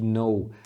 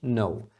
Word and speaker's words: know: verbo saber ou conhecer então você já percebeu que esse k não é tá então é um erro comum principalmente de alunos iniciantes pronunciarem esse k tentar falar que no mas não é assim é simplesmente no por exemplo There is